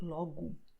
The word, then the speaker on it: logo: So, O at the end of the word will be pronounced as U, like logo.